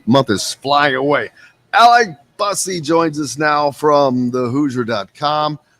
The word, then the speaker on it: Busse: Also, just a FYI, last name is pronounced Busse. Okay. Yeah, no worries. I just caught it there right as you went off from the last segment. I was like, oh, let's get that right. And there was someone the other day that had the same spelling, and they did say it like you just said it.